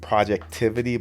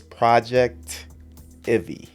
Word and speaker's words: Projectivy: And I normally mispronounce this with Projectivity, but it's Projectivy.